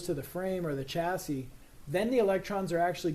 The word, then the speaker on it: chassis: We'll say, you know, chassis, you don't pronounce the s at the end. It's not chassis.